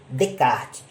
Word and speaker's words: Descartes: A fim de que venhamos escoimar toda qualquer espécie de estranhamento, é importante dizer que se escreve Descartes, mas se pronuncia Descartes.